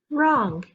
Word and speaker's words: wrong: what's the word knock w r again the w is silent what's the word wrong w r w is